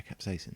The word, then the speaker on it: capsaicin: predominantly a compound called capsaicin, right? Which is a kind of compound which Is that how you say it? Yeah, capsaicin. I thought it was capsicum.